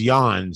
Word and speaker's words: Jan: mean his first name the first part of it is yawn so you're already struggling